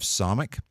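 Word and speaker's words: Samekh: Then we have Samik, which is pronounced like an S sound, S as in safe, Samik.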